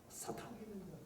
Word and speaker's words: 사탄: 사탄. 우리 이제 개정판에는 사탄이라고 번역했을 거예요. 사탄이 원 발음입니다. 우리는 사단이라고 되어 있는데 사탄이 무슨 뜻일까요?